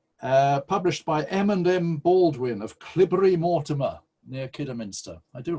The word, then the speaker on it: Cleobury: by M&M Baldwin of Clibbury Mortimer, near Kidderminster. I do like that name. Spelt Cleobury, but pronounced Clibbury.